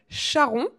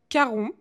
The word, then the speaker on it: Charon: donc je le disais Charon Charon Charon je sais même pas. Voilà. Et lui le monsieur il dit que ça se prononce Caron.